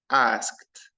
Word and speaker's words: asked: this in this word I say she asked asked notice guys the Ed the final Ed not fin ask or asked final Ed I pronounce it as T sound so I say she